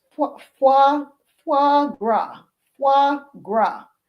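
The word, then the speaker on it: foie gras: Example, this is pronounced fu fu fuagra.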